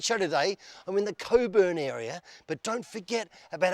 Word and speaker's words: Cockburn: on time in Coburn not what you think not the way it's spelled it's Coburn hi I'm looking for Steve